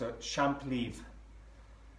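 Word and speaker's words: champlevé: It's pronounced a champ leaf, and it really is nice.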